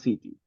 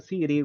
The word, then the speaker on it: city: No es tan marcada la T. No decimos batteries, no decimos water, no decimos city. Ahí usted va a escuchar city, water, batteries.